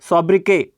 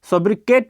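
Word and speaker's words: sobriquet: ये वर्ड है सॉब्रिके। इसको पढ़ते हैं सॉब्रिके। सॉब्रिके का मतलब होता है, इसका मतलब निक नेम होता है। देखो, ब्रिटिश और अमेरिकन में अलग अलग प्रोनाउंसिएशन किया जाता है किसी भी वर्ड को।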